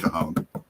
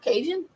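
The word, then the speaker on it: cajón: it's called a cajon i think it's pronounced cajon it's not cajun different spelling and you can actually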